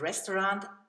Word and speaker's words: Restaurant: is ein resto home the German language uses the word restaurant but it's pronounced the French way restaurant whoa is I'm